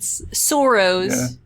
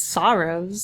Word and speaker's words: sorrows: He pronounced it soros. You drowned your soros in booze. And that's kind of like a I don't know that that's like a really Canadian sounding thing to it's sorrows.